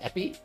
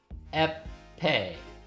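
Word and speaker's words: épée: Is it pronounced epi? They're all like fencing weapons, right? Hmm? Epee. Epee. Alright, epee.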